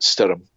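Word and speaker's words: Stoirm: It's Stoyrm, and apparently that is pronounced Stirrum. And that's Gaelic for storm.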